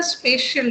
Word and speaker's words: spatial: it must be the spatial data okay geographic means spatial forest s p a t i a n spatial not spatial learn the pronunciation of this term spatial and also learn the